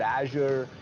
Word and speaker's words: Azure: their CEO does which rhymes with the word pressure pressure pressure this fundamental fact that Azure we have Azure the